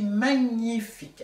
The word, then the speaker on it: magnifique: Je suis magnifique. Attention, le ng, il faut vraiment le prononcer à fond.